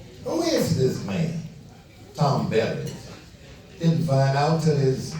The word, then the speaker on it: Beavers: Tom Beavers, who started pronouncing it Bevers.